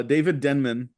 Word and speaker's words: Denman: David David Denman um I thought it was denim too oh I've been pronouncing that man's name wrong since I saw the office uh David Denman who is Roy in